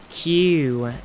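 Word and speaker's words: queue: Like you came up with the word Q, and it's pronunciation Q-U-E-U-E.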